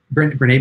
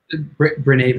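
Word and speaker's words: Brené: like um i i have been i've like renee brown is is one person um i think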